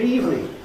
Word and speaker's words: evening: And even less noticeably, the word evening. It's amazing how many people think because it has 3 syllables in spelling, evening, that they're going to say 3 syllables. But it's practically non-existent amongst natural speakers of English. To say good evening, you immediately give yourself away as not a native speaker of English. Good evening, just 2 syllables, eve and me.